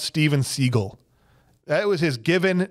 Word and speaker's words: Seagal: the whole matter is his name is actually pronounced Steven seagull that was his given name he changed it because he thought it sounded cooler to say Steven Seagal after he got uh like some bad press